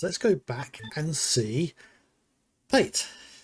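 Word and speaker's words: Paet: So, as we've got the ship parts, let's go back and see Pate. Or Pyatt, as I think I pronounced it for a great many years.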